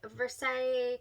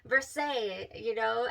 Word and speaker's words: Versailles: Beth, she kept telling me, she's like, Versailles, Versailles, I don't know how to say it exactly, but it's Versailles, I believe. You don't say the S here. Versailles.